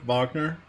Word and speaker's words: Wagner: That's how you pronounce it, like the composer Wagner.